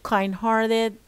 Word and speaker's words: kind-hearted: but as you see it's made up of uh two words the first word is an adjective and the second is an eeg word will be only put stress on the second word on the second word